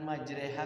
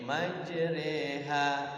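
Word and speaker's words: مجريها: supaya enggak miring kan majreha kan bacaan fathah dibaca kasrah tidak fathah tidak miring dibaca miring e a tidak i tidak kan tengah-tengah e majreha harusnya kan majri kalau di kasrah kalau di fathah majro nah ini tengah-tengah majro tidak ri tidak jer cuman ada satu Quran.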